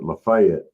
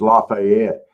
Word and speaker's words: Lafayette: They're calling it Lefayet, but it's Lafayette.